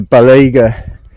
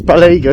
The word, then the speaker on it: Balega: YouTube this morning, and I heard it pronounced as Balega. It's definitely not that. Balega, I'm not sure, but I believe it's Balega, because I stumbled across